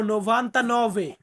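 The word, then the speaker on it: novantanove: 99 99 কে আমরা ইতালিয়ান আমার সাথে বলবো নোভান্তা নভে নোভান্তা নভে মানে হচ্ছে 99 সো আজকে কিন্তু সম্পূর্ণ ক্লাসটা মানে বাংলাতে উচ্চারণ দিলাম যদিও এমন ক্লাস দেই না আমি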